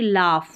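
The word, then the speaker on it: laugh: वजह से जी एच जी एच को भी फ प्रोनाउंस करते हैं। जैसे कि लाफ में तो इस तरीके से आप याद रख सकते हैं।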